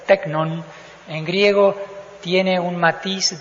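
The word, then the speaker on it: τέκνον: suena simplemente así pero en griego que se pronuncia tecnon en griego tiene un Matiz de de cariño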